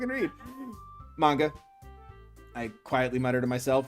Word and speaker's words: manga: read manga i quietly mutter to myself half joking natsuki's head suddenly perks up it's actually pronounced manja it looks like she